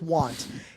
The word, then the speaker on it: Tuan: His name is spelled T U N. And I said to Tom, "Hey Tom, can you ask him how we say his name? Cuz I do not want to butcher our sponsor." And Tom said, "It's one with a T."